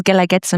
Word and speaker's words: Guelaguetza: What does Guelaguetza mean? I mean, how do you even pronounce it, right? And Guelaguetza, it's a word in Zapoteco.